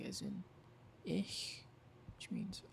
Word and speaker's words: ich: But ich, it's after an I, so it's soft.